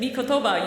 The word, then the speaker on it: Mikotoba: Mikotoba.